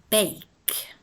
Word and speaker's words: bake: as a bossy e bake you pronounce it like it is about b-a-y Dash K bake with no e sound at the end examples